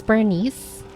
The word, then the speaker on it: Bernice: It's burn ice, 2 separate words. Oh, burn ice. It's Bernice. Bernice. We see the name both ways in game. Oh, hi, Addie. Welcome, welcome. The second one, so it rhymes with furnace.